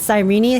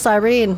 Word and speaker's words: Sirene: So, it's sireny how March said it. I always thought it was sirene. My bad. I thought it was a silent e at the end.